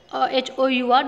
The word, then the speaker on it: hour: When we are pronouncing this word H-O-U-R, then it will be hour because H will be silent here.